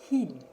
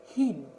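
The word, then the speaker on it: һин: Хин. Хин.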